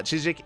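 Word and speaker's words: CHZZK: Chik I did did look into how to pronounce it Chik uh Chik is a Korean streaming platform the reason reason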